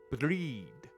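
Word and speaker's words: Bríd: with a la e breed similar to the English word breed but the final D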